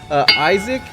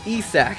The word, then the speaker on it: Isak: I was so bad last episode that I mispronounced Isaac, and it's Isak.